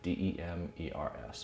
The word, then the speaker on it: Demers: Yes, it's Demers, spelled, last name D-E-M-E-R-S, pronounced Demers.